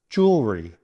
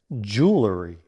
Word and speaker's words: jewelry: Jewelry. Many people find this word tricky because it's often mispronounced as jewelry with 3 syllables. However, in conversational American English, it is commonly pronounced with 2 syllables, jewelry.